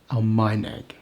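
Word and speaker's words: Almaeneg: German language, Almeineg. The stress is on the penultimate syllable.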